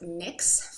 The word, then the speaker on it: NYX: fun my NYX NYX but it's pronounced NYX for those of you who don't know my next item is